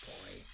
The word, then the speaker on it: PO1: PO1, but it's pronounced boy.